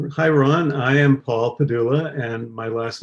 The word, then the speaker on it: Pedulla: Well, it's an Italian name, and supposedly the original name had an accent at the end, which made the last syllable really should have been the accent. So Pedulla? Yeah, but we don't say it that way, and it just got anglicized, I guess.